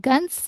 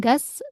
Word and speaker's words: Gans: Kemudian Gans ya, bukan gas, tapi Gans ya. Pernah dengar namanya Gans. gas ya, tapi Gans ada n-nya ya.